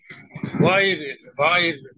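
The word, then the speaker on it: غَيْرِ: গায়রিল এই যে গাইরিল মাগদুবি না, আলাইহিম গয় গয়, গায়রিল জি বলেন।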